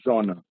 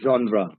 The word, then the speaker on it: genre: pronounce this word as J almost everybody will pronounce this word as Genna but I think the pronunciation of this word is uh genre genra okay but I everywhere I see people